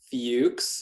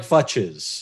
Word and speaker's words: Fuchs: It's pronounced Fuchs. I recognize the spelling for some people can be a little difficult. We'll just get the elephant out of the room right now. It's written like Futches. That's what it's Some people pronounce it differently, and that's okay. Yeah. Yeah, sometimes a C and an H, they don't make that sound.